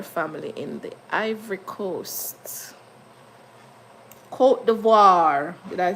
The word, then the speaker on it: Côte d'Ivoire: Côte d'Ivoire. Did I pronounce that properly?